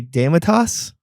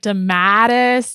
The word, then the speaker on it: Dematus: in there right yeah let's hear how you how you pronounce it yeah i would just say demitas close yes okay and we've had so many people like jesus christ we've had like demattis dematus the mattress um the mattress factory yeah it was